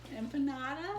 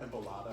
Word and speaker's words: empanada: Empanada. There you go. What did she call it before? Empalada.